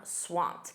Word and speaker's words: swamped: Notice that pronunciation. That e d is a soft t. I'm swamped.